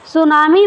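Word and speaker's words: tsunami: सुनामी में जो आई जो है, ये सुनामी में ये यहाँ पे टी रहना चाहिए, ये टी साइलेंट है।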